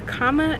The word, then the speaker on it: Kama: for we are diving into the comma this is spelled ka MA so the comma is our pleasure this is not only prohibited